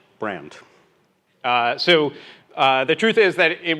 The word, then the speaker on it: BrXnd: It is not BrXnd, which is by far the worst of the pronunciations. I just call it brand.